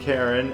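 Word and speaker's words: Charon: Yeah, that is Karen. And um Karen spelled like the way of the Greek or the mythological creature that guides people, the river boatman who takes people across the river sticks. But uh yeah, that's Karen.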